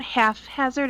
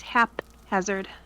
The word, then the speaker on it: haphazard: It's not haphazard, it's haphazard.